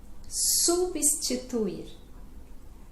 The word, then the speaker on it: substituir: Então, substituir. Substituir. Substituir. Este B é mudo, né?